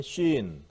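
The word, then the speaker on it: שׂין: 자, 그 다음에 신. 하나, 둘, 이렇게. 하나, 둘. 자, 쉰. 쉰. 무슨 뜻이에요? 이. 예. 자, 신. 근데 점이 위치에 따라서 쉰으로 발음되고, 신으로 돼요.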